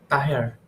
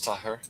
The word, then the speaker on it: Tahir: Your last name? Teher? Tahir? Tahir. Tahir? Yeah? Yes. Yes. Okay, very good. Yeah, that's the name. Tahir.